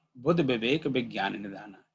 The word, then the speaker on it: विवेक: कि मैंने पहले कहा, विवेक में 'व' अक्षर का उच्चारण अवधी में नहीं होता, इसलिए लोग 'ब' बोलते हैं, तो विवेक की जगह बिबेक बोलते हैं।